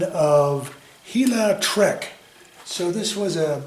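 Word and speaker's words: Gila: Hila is spelled G-I-L-A.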